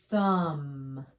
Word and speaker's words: thumb: be honest with you so when you see m b you stop at the m you make the m sound and nothing for the b the b is a ghost letter it's silent look at our first one oh th we know that um thumb like you have a thumb with my little picture thumb okay thumb the b is quiet we don't call this